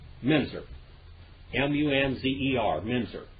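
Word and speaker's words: Müntzer: by the name a mincer his name is Munster but it should be pronounced minzer okay because when you have his name was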